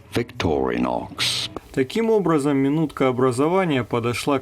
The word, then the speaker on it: Victorinox: Но проведя исследование и поговорив с филологами, оказалось, что правильное ударение будет на первое «о» – Victorinox. Victorinox. Victorinox.